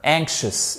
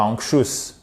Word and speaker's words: anxious: So, they were, et pas were, rather, anxious, et pas anxious. Anxious, faut bien faire l'accent tonique.